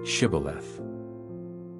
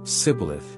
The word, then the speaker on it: Shibboleth: And he would say, "No," and they would say, "Say, Shibboleth." But he would always say, "Sibboleth," he couldn't say it right.